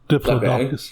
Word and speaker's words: Diplodocus: It showed the, I'm going to say this dinosaur's name wrong, is it Diplodocus? The one with the fan? Diplodocus.